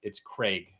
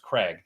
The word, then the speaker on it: Craig: I think in England it's Craig, like plague, Craig, but it is absolutely in America. Anyone's name that's Craig is pronounced Craig, so it's absolutely just a difference of our dialect or how we say things.